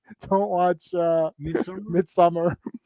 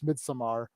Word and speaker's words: Midsommar: I listened to the guy pronounce it, so it's Midsommar. Is it? Well, I thought it was Midsummer, and it was just spelt weird. He says Midsommar the way he says it.